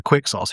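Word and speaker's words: Quixos: And the one like that was basically his idol when he was young is an inquisitor Quicksauce who should be many hundreds of years dead by now.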